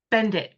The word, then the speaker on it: Bendit: Bend it. Like bend it. Don't break it.